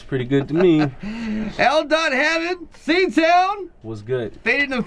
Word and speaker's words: L.Hammond: Yeah, it's when we say dot because that's how you pronounce it. It's L.Hammond, but it's spelled L period Hammond, you know?